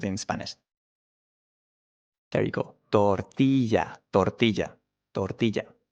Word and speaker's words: tortilla: Tortilla, tortilla, tortilla. In this case, the R is stronger than camarero, so this R is different, right?